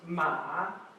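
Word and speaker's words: 马: Now this character means horse, and it's pronounced ma.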